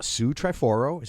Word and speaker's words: Sue Triforo: Our second special guest is uh Sue Triforo.